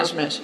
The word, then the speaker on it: Nijmeh: How do you pronounce her last name? Bertrada Nijmeh. Yeah. Nijmeh.